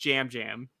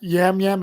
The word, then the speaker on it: Yam Yam: to be clear despite them being wise it's pronounced Jam Jam it is it's not yam yam it's Jam Jam Jam okay yeah so this